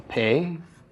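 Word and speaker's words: פה: the letter itself so a pay with the doggish a Sehgal vowel underneath it followed by a hey is pronounced pay and it means a mouth all right so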